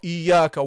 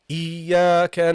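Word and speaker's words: إياك: Okay, don't say wa, wa iyaka wa. The waw is not a heavy letter, guys. It's a light letter.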